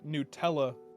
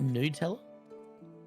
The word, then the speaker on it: Nutella: Did you call it Nutella? How do you say it? Nutella, because that's what it is. It's nuts. It's made of nuts.